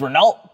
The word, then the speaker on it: Renault: You guys like to correct me on my pronunciation. It's Renault Peugeot and Volvo. Can't really mess up Volvo, I guess.